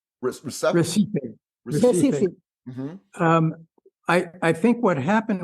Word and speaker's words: Recife: Recipe? Recife.